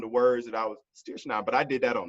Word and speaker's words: strychnine: And I thought I went through all my my presentation and found the words that I was strychnine, but I did that on the fly.